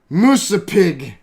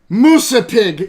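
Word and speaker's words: Musse Pigg: Here is their word and how you pronounce the name Mickey Mouse. Musapig. Musapig.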